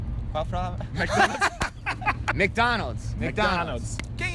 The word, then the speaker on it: McDonald's: Então, a pronúncia certa é Qual palavra? McDonald's.